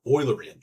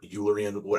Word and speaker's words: Eulerian: That is called the Eulerian or Eulerian, however you like your Greek pronunciations.